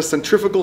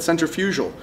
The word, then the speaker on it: centrifugal: is a centrifugal supercharger I've had videos before where I said centrifugal I apologize it has a g in there and a centrifuge is